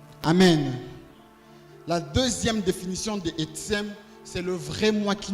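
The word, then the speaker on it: עצם: Le mot os en hébreu, c'est etzem. Etzem, il s'écrit comme vous l'entendez, E-T-S-E-M.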